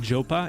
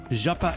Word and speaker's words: Japa: Oh, my name is not Jopa? It is not. I mean, it's fine. It's fine for people who pronounce it that way. That's not how I say it.